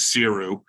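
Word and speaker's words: Saothrú: word to pronounce but you would never know to say that by reading the bottle so it's known as siru um if anyone's you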